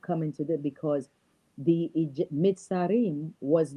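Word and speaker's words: Mitzrayim: So how can we include that into the Adam when it was Mitzarim's? It was I pronounce it Mitzarim because of the Hebrew thing.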